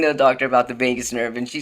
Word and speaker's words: vagus: the doctor about the Vegas nerve and she said I love Vegas and I was like no Mom it's spelled differently but but it sounds the same so welcome to my